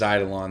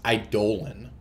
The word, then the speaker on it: Eidolon: burn spells you know maybe if this is idle on that's that's a lot more rough so funny